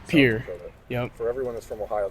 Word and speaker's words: Pierre: your hometown is pronounced Pier for everyone that's from Ohio thinks it's p okay so technically it is Pierre because of like the French guy but uh I think